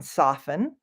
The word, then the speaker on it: soften: that I say it the t is silent on soften so it almost just sounds like there is no tea soften um and this one often gets often and soften rhyme but sometimes people say often but we do not say soften so here's often here soften they rhyme meaning the end of